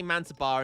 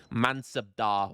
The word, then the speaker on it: mansabdar: Manar man I keep I always say Manar and and people all of my Indian friends in the YouTube comments tell me off and I need to pron pronunciate the B I think mansabdar or the pronunciate the D rather so the mansabdar gerker